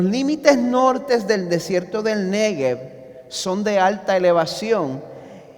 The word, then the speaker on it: Negev: ¿Qué son los arroyos del Negev? Gracias por preguntar. Como pueden ver en el mapa moderno de Israel que está en pantalla, el desierto de, como se pronuncia en hebreo, Negev, se encuentra en el sur.